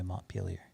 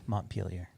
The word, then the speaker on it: Montpelier: the country montpelier vermont that's how you say it by the way montpelier peelier montpelier montpelier montpelier yeah i'm not gonna go with the super super uh intense french pronunciation of it because there's no need